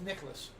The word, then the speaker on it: Nicklaus: And it's pronounced Nicholas. Oh, Jack Nicklaus.